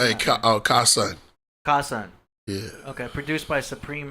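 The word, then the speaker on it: Kasaun: I don't know if I'm pronouncing that. Hey, Kasan. Kasan.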